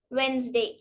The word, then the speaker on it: Wednesday: it's a wrong pronunciation it is also not pronounced in the following words like sandwich handkerchief handsome Wednesday silent letter e letter